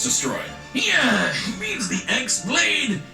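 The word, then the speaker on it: χ-blade: yeah it means the x blade it's just pronounced like keyblade even though it's just one keyblade ah the series is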